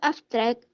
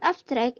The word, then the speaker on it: abstract: For example, the word abstract as noun and adjective and the word abstract as verb are different in stress placement. The word abstract as adjective and noun, the stress is placed in the first syllable.